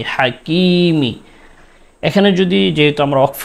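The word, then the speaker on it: الحكيم: হাকিমি এখানে ওফ করলে মিম এর মধ্যে জের রয়েছে। ওফ করার কারণে মিমের সাকিন দিতে হবে।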